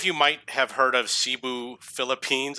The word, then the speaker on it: Cebu: in New York so some of you might have heard of Cebu Philippines it's actually it's pronounced Cebu that's how the locals pronounce it and this is actually